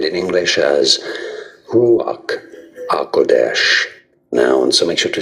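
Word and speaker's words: רוח הקודש: Ruach HaKodesh. Ruach HaKodesh. It's often said in English as Ruach HaKodesh. Ruach HaKodesh or Ruach HaKodesh.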